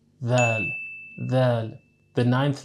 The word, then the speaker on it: Dhaal: In Arabic, the letter Dhal represents the sound th, similar to the th sound in this or that. But even in just what we've learned so far, we can see the importance of proper pronunciation, right? We don't want our dhal to sound like a tha, because in Arabic, changing